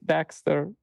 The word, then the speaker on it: DX3TR: So it's very easy, but it's pronounced Dexter. Yeah, and you find there everything. Actually, I have my SoundCloud. You find me Dexter, DX3TR, and yeah, SoundCloud, Spotify, the same.